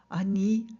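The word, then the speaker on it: אני: I need the hell Annie yeah dad remember Hebrew likes to give the power to that last syllable Annie it's even better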